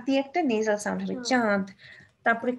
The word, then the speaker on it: চাঁদ: এর কোথায় বসেছে উপরে তাহলে দেখো কোথায় বসলো চাঁদটা এই যে এইখানে চন্দ্রবিন্দু চাঁদ হ্যাঁ একটু নাক দিয়ে একটা নেজাল সাউন্ড হবে চাঁদ তারপরে কাঁঠালের কাঁঠাল হ্যাঁ দেখা যায় যে আমরা